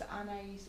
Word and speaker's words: Anais: No, it's Anais, A-N-A-I-S.